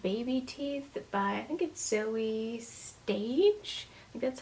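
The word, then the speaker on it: Zoje Stage: to pick up baby teeth by and get Zoe stage that's how you pronounce the name obviously another Thriller I have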